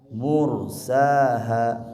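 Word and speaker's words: مرساها: Mursaha, huruf ro-nya ditebalkan, mursaha.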